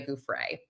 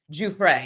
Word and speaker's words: Giuffre: But before we jumped on, Joe and I were discussing Virginia Guay. Juay, you're supposed to say it like that.